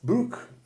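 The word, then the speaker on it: Brugg: And is it pronounced Brook? Yes. Brook. Yes, Yeah. Brook.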